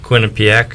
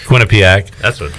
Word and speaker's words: Quinnipiac: you say it patrick quinn and piac quinnipiac lost to them beat